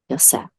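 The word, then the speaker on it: יוסף: But that's the 12th son, Yosef. And it's pronounced this way, whether in the modern Hebrew or ancient Hebrew tongue.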